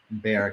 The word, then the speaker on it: Bexar: who lives in uh bear county bear it's bear county bear county i'm not used to the silent x um it's been a